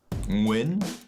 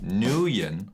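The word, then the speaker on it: Nguyen: take a look my last name is pronounced win and not nuyen Vietnamese is a tonal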